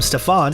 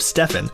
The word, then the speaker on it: Stephen: During a pitch meeting to re-sign Curry, the Nike team mispronounced his name, they called him Stefan instead of Stephen, and even had Kevin Durant's name on one of the PowerPoint slides.